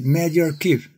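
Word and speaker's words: medRxiv: Esse artigo foi publicado no portal chamado MediRevix, que pronunciando-se MediArchive, onde se lê na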